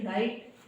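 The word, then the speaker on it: write: generally ऐसा होता है डब्लू के बाद आर दिखे वहां पर जो डब्लू है वो साइलेंट होता है फॉर एग्जांपल रॉन्ग यानी कि गलत फॉर एग्जांपल राइट यानी कि लिखना फॉर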